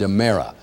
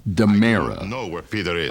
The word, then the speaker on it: Amara: to refer to a character named Amara that that rhymes with O'Hara right now there's Drake on the left in Jewish girl on the right now he is Demara come on Jumeirah dum